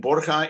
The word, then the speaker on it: Borja: town is campo de borja and borja is the spanish pronunciation of borgia you may have heard